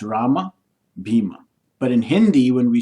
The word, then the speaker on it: Bhima: Or the Hindi belt or Hindi associated languages, they'll say Ram, Bhim. And South Indian will say Rama, Bhima. So you can say whichever. The absolute correct one would be the Sanskrit pronunciation, which is Rama and Bhima.